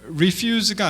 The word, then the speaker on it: refuse: 이게 rubbish, 그리고 이게 refuse가 아니고요. refuse는 거절하던데 이게 명사가 되면 refuse라고 읽습니다. refuse, 그래서 이게 오물이라는 뜻이고요.